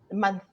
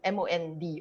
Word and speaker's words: month: And then you realize, like, for example, I never say month, I never say the TH sound. I would say man, MOND or something like that.